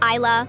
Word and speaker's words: Isla: Isla, like I can see the beautiful island.